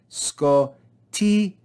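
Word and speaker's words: σκοτίᾳ: These two vowels, iota and alpha, do not form a diphthong, so we divide this word in between these two vowels to form separate syllables. Sco-ti-a, sco-ti-a.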